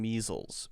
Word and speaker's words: measles: What's the correct pronunciation of S in measles? Measles. Z sound. Z sound.